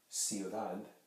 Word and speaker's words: ciudad: end of it, like ciudad. Ciudad. See, at the end, it's going to sound like a da. Ciudad. Ciudad. You're pronouncing a very slight TH.